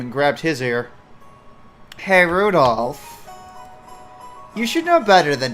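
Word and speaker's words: Rudolf: ] that is anyways this guy's name is pronounced Rudolph you must take grandfather for giving him he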